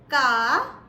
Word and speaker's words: Ka: K in German is pronounced as Ka, Ka.